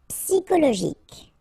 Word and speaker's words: psychologique: Psychologique. Okay, remember it's an exception here because you've got this C-H-O. Normally we should pronounce it sho, okay, but in that case we pronounce it ko. Psychologique.